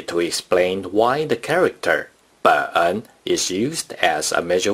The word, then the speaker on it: 本: 本 is the third tone.